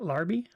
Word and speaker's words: Larby: That's how you say it, Larby.